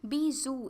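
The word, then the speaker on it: bijou: बीजू, इसे बीजू की तरह प्रोनाउंस किया जाता है।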